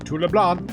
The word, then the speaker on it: Leblanc: Next I need to take this package to LeBlanc. And yes, I'm pretty sure it's pronounced LeBlanc, not LeBlanc.